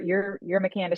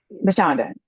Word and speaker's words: Mashonda: And so, like you said, your McCanda shines. Sorry, McCanda shines. You were right. It was Smashonda. Mashonda shines.